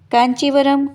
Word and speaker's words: कांचीवरम: कांचीवरम कांचीपुरम का ही उच्चारण भेद है।